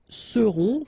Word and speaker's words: seront: Ils seront, final T not pronounced, and then you've got this nasal, on, seront, elles seront.